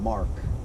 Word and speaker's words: marc: It's spelled Marc, M-A-R-Q-U-E, but the French pronounce it like Mar. And then when I say, "Oh, Mar," they're like, "No, Marc."